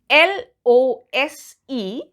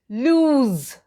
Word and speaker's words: lose: L-O-S-E is pronounced as lose, lose, and it is a verb, and since it's a verb, it defines an action or a condition.